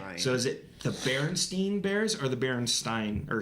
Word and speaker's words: Berenstain: Is it the Berenstain Bears or the Berenstain Bears? Okay, let me show you this so you guys can remember. I grew up on these books. Berenstain or Berenstain.